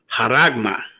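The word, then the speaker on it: χάραγμα: Okay, let's get the pronunciation of mark in the Greek. Strong's G 5480. Charagma. Charagma. Haragma.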